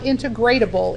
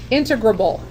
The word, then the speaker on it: integrable: here's the new word I n te gr a BL e okay what do you think is the pronunciation of that word okay it is not integratable it is integrable it sounds kind of funny it's like